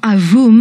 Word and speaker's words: Ariane: on the engine of the avram first stage or our room as it's pronounced in French and maybe in Italian as well so we've really started